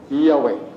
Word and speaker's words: Yahweh: Pero sa Hebreo, upat na kalitra. Yud, he, waw, he. Kanang I am who am. Yud, he, waw, he. Ma-pronounce sa mga Hudyo, kung sa'yo pronunciation, Yahweh.